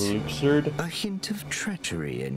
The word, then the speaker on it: Luxord: Luxord, his name is pronounced Luxord.